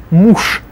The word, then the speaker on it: муж: Муж. Же at the end becomes sh, so муж.